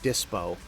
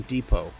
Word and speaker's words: dispo: them depos right because it's DPO for like dispo right disposable shortened to dispo and they think the S is silent so they call them Depot like it's some sort of fancy French language or something enforce the law